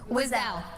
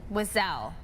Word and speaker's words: Wiesel: I believe you pronounce his last name Weisel? I think so. Yeah. Ellie? Wessel? We're gonna get the right pronunciation. Wiesel. That's what it is. Wiesel.